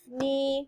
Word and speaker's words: knee: not it was not yeah all right knife knee knock say it again what is making the